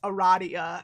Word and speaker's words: Aradia: her route is called it's pronounced eradia and i'm losing my mind okay i'm thirsty so i'm gonna grab something to drink and then a radio time and i'm going to continue to pronounce it a radio they can't make me